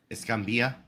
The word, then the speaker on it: Escambia: Escambia.